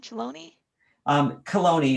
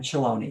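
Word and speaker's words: Chelone: head is that cologne chaloney is more correct than chiloni but it's it's spelled ch just to kind of give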